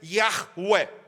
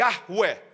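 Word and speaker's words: יהוה: literalmente aqui tá literalmente o hebraico é ear Ué e ar ué essa talvez seria a pronúncia mais próxima Até onde eu me lembro das aulas de hebraico desse nome que Deus dá de si mesmo esse nome meus irmãos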